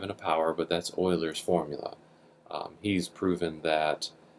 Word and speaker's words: Euler: It's not pronounced Euler, it's Euler.